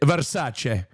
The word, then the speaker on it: Versace: Versace.